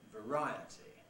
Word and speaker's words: variety: variation before a vowel but when it gets the stress through the effect of the itty suffix t suffix what happens you get eye by variety spelling of course fluctuates